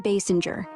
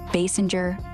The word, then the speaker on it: Basinger: It's Kim Basinger. Easy mix-up. It's Kim Basinger, spelled B-A-S-I-N-G-E-R. No SS, just like bass, plus singer without the G sound.